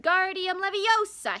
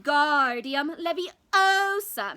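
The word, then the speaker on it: Wingardium Leviosa: having much more like Guardium Leviosa he shouted waving his long arms like a windmill you're saying it wrong Harry hurt her money snapped its moves Guardium Leviosa make the Garn nice and long you do it then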